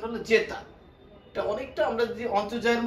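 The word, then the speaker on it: zeta: জেতা, এটার উচ্চারণ হলো জেতা।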